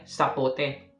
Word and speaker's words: sapote: I love you Sabi nila ang pagtawag ang pagpronounce nila ay sapote okay Ito po iba naman po yung sapote